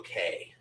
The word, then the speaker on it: Cay: I know it's actually pronounced Key, but they pronounce it Perfect Day at Coco Cay so that it rhymes.